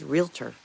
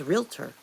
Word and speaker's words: realtor: It's just realtor. There's no ator. It's just realtor.